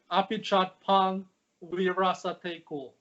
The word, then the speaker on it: Apichatpong Weerasethakul: If you pronounce every syllable slowly, I think you'll get to it. It's Apichatpong Weerasethakul. That's how I pronounce it.